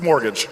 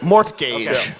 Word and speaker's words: mortgage: looks it doesn't look like it should be pronounced mortgage it doesn't look like that but that's mortgage mortgage wait is this not multiple choice this is